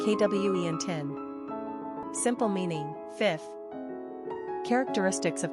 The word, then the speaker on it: Quintin: Pronunciation, Quentin.